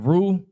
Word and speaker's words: Reu: Reu. Okay, Reu, I was right. Genesis 11 and 19. And Peleg lived after he begat Reu 209 years, and begot sons and daughters. Genesis 11 and 20. And Reu lived 230 years, and begot Serug.